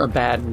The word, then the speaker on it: Abaddon: they weren't working with like Abaddon and or a bad and depending on how you pronounce it I've heard both ways I prefer Abaddon but people are weird